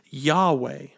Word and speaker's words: Yahweh: israelites in hebrew it's only four letters we pronounce the word today as yahweh now the name yahweh which is often capitalized